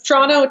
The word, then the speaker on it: Toronto: Yes, that's Toronto. Two syllables starts with a ch.